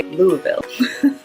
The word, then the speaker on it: Louisville: Louisville or Louisville, but they take out a lot of those letters and just say Louisville.